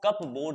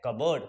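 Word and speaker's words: cupboard: them in द कबर्ड इसको कप बोर्ड नहीं पढ़ेंगे इसे कहते हैं कबर्ड पी होता है साइलेंट ठीक है स्नान कर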